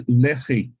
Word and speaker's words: Lehi: And Lehi sounds more like something the Mormons would have. In Hebrew, it's Lehi.